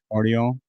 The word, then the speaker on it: Guardiola: is that his name you just don't pronounce the G I guess guardio he scores the goal